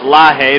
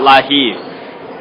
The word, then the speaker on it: Lahe: Turns out number 3, Lahe, is actually pronounced Lahe, not Lahi.